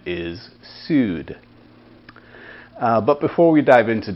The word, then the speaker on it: Saor: scotton uh which goes by the name of sued it's spelled s-a-o-r but the gaelic pronunciation is sued but before we dive into today's music let's